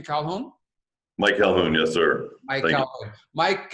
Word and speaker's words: Calhoun: name is Michael Calhoun is that the right pronunciation Calhoun Mike hello yes sir Mike welcome to the